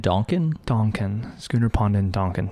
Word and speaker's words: Donkin: were also curious about, is it Duncan or Donkin? How do you say it's Schooner Pond in Donkin.